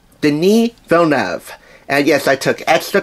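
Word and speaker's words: Denis Villeneuve: Hugh Jackman and Jake Gilling Hall directed by Deni vov den vov and yes I took Extra Care I would pronounce his name right at least the second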